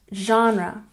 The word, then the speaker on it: genre: good and number nine genre we stress the first syllable genre JRE once again genre